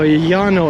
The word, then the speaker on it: Llano: Double L makes a yeah sound.